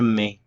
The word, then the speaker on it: mets: So I put would be je mets, je mets.